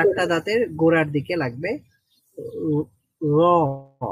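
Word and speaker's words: ر: র এর মাখরাজটা রয়ের মাখরাজ হচ্ছে জিহ্বার আগা, উপরের সামনে, মানে উপরের সামনের দুই দাঁতের চারটা চারটা দাঁতের চারটা দাঁতের ইয়ের সাথে লাগবে, গোড়ার মানে সাথে গোড়ার লেগে সাথে।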